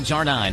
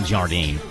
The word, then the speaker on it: Jardine: Al Jarine from the Beach Boys. I'm sure I'm pronouncing that last name wrong. I guarantee you it's Al Jardine, but I didn't have enough time to ask Rick.